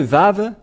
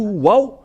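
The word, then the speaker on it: ו: ici entrer dans l'alphabet voilà le vave voilà vave ou vave c'est bien ça donc c'est pas du tout waou mais on le prononce bien V et le vav est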